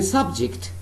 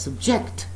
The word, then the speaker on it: subject: When I say subject, that means the word I'm using is a noun. And when I'm pronouncing the same word as subject, that means I'm using this word as a verb.